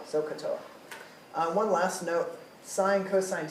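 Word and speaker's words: SOHCAHTOA: If you pronounce this as sa-ka-ta-a or something, it's not going to help. If you don't know how to spell it, it's not going to help. So you need to know how to say it and how to spell it. So-ka-toa. So-ka-toa.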